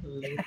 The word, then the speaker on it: Latham: Latham.